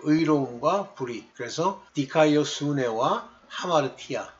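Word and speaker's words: ἁμαρτία: 그런데 발음할 때요 앞에 뭐 아포스트로피 요걸 찍으면 하자가 됩니다. 저 전는 옛날에 아마르티안이라고 많이 읽었는데 하마르티안이에요.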